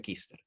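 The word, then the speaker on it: Küster: Bernardo Kuster, se pronuncia Kister.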